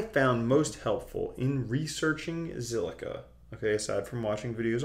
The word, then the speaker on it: Zilliqa: How do you pronounce it? Zilliqa, obviously.